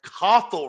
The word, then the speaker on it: Cathal: Cathal Ryan. Now that I know how to pronounce my dear brother's name, and I want